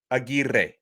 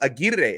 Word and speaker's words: Aguirre: name should be pronounced aguirre and i'm going to really roll the r's for emphasis but i heard his coach refer to him as aguirre i think that's how